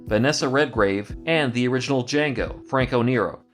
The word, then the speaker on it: Django: Redgrave, and the original Django, Franco Nero. The D is silent.